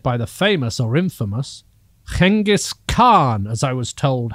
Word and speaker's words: Genghis Khan: was once led by the famous or infamous genghis khan as i was told how to pronounce it when i was in mongolia one